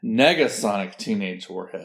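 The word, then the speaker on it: Negasonic Teenage Warhead: was in the movie sorry I had her name wrong it's it's Nega Sonic teenage Warhead yeah I don't know it's just a it's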